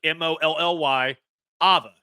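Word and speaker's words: Iamaleava: Molly, like Molly, Ava. Molly Ava.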